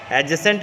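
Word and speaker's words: adjacent: एडजेसेंट कहेंगे, D silent है इसलिए एडजेसेंट बोलेंगे।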